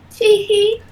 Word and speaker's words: Tee-Hee: Then at the end, Tee-Hee, and it's got to be pronounced Tee-Hee, like a giggle.